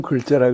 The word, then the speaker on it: 글자: 번역하고 조금 관계없는 얘기인데 나는 주홍 글자라 그럴 때 글자라고 된소리를 써야 된다고 봐.